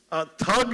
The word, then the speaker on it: thug: Thug, as they pronounce it, which is tug, of course, in Hindi, came from the actual thugs in our country.